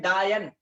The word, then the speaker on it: डायन: बाबा डाइण चवंदा आहिनि डाइण सिंधी जो लफ़्ज़ आहे उर्दू में उनखे चयो वेंदो आहे डाइन उर्दू में त असल जी प्रोनाउंसिएशन डायन डायन डायन चवंदा आहिनि डायन कहीं की ठीकु